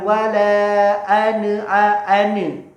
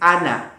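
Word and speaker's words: أنا: Ada juga yang membaca dengan wala ane, dibaca dengan imala. Ini salah sekali. Ya, yang benar bagaimana? Dibacanya pendek, ana.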